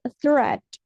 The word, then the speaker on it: threat: thread ya thre thre perhatikan th itu kita bacanya t t jadi threat thre thre artinya ancaman